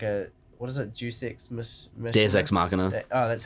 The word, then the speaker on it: Deus Ex Machina: Deus Ex Machina. That's how it's pronounced.